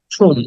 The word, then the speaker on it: tomb: টম এটাকে টম বলি আমরা কিন্তু হচ্ছে ঠুন উচ্চারণটা আসলে হওয়া উচিত ছিল ঠুম উটাকে টেনে বলতে হবে ঠুম ঠুম বি এর